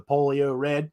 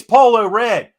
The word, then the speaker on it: Polo Red: because I like the Polio Red. Yeah, I said polio. I said it wrong on purpose, people. Polio Red. Yeah, it's Polo Red.